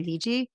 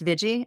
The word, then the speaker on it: Viji: of psychology Community um her name the Iji sometimes people say VG but it's veggie and so she puts